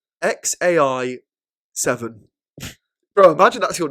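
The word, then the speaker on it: X Æ A-Xii: So one of the names of his kids is pronounced XAI the 7th. So that's the letter X, then A, then E, then A dash X11, the Roman numerals 7. So how's it pronounced, right? So I believe it pronounced XAI 7.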